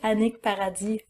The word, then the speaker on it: Annick Paradis: My name or my handle, need to pronounce the H. My handle is Annick Paradis Photographe. So it's not Annick Paradise, it's Annick Paradis in French.